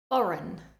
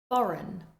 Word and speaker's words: foreign: Next, we have a couple of words with a silent G. Sign, sign, foreign, foreign.